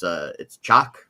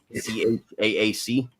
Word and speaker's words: Chaac: Now, excuse me if I mispronounce it, but it's Chaac, Chaac.